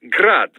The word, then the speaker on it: Grad: rad the ukrainian way but most in the business pronounce it as grad russian style crazy to think i'd